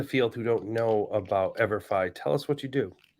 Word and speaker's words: EVERFI: education for everyone right that's where that forever and ever Phi comes from the Phi in there